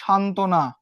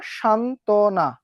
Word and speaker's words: সান্ত্বনা: ঠিক এভাবেও যদি আমি বলি সান্ত্বনা, দেখো সান্ত্বনা, এই যে শান্ত না, এখানে কি কোথাও ব ফলা দেখা যাচ্ছে?